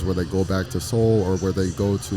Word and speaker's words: Soul: So within the Holloway Interpreting Group, I also started a program called Speak with Soul, and that's Soul pronounced Seoul, where it's a program